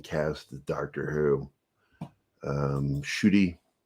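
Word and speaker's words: Ncuti: the Doctor Who um shooty and I was told that that's how it's pronounced I I heard um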